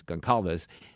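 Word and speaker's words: Gonçalves: It's a little hard to pronounce her name. It's like Gonzalez, but it's Gonalves.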